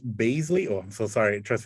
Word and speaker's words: Baizley: much uh this has been uh john dyer blasey baisley oh i'm so sorry trust me i mispronounce uh names all the time um john dyer basley of baroness thank you so much i do